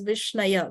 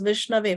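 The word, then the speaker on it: Viṣṇave: the chaitanya which says a foolish person will pronounce the name of the Lord as vishnaya which is a wrong pronunciation okay diro a person who is intelligent a person who's knowledgeable he will pronounce it as vishnave which is the correct pronunciation both of them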